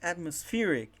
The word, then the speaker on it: atmospheric: For example, I ask, what is the stressed syllable of the word atmospheric?